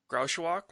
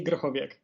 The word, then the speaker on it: Grochowiak: All right, Grauschwach. This is always the best part when they try to pronounce my name. No, it's actually Grochowiak.